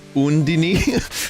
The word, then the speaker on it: Undyne: That name should be pronounced Undine or Undini.